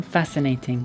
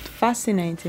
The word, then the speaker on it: fascinating: Fascinating. Fascinating. Fascinating. Ah, okay, you don't pronounce the C. No, just fascinating.